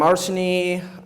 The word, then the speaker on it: Arseny: So yeah, I'm Arseny. You may know me. This is how you pronounce it.